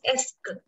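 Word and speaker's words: est-ce que: सो इसकी प्रोनाउंसिएशन देख लो, थोड़ी कॉम्प्लिकेटेड लग सकती है. EST, ये जो है सिर्फ, दिस इज एस्क. ESTCE और QUE, इसकी जो प्रोनाउंसिएशन है, दिस इज एस्क.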